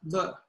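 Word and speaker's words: 乐: And as many of you might know, the character for music, which is pronounced yue in Mandarin, is actually the same as the character for pleasure, le.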